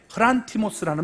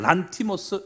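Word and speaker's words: ῥαντισμός: 보통 뿌린다는 그런 말을 쓰는데 이 물 뿌림을 우리가 얘기하는 헬라어 명사가 이게 흐란티모스라는 말입니다. 좀 발음이 어려우니까 그냥 란티모스 이렇게 하면 돼요.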